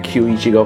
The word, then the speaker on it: Kyu Ichigo: just gonna call him q ichigo from now because that's how you pronounce it in japanese so kiwichigo has the